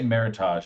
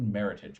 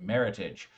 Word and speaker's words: Meritage: the sterling vendors collected meritage meritage is a portmanteau it's a fun word to say a portmanteau being the combination of the word merit and heritage as in meritage the reason that this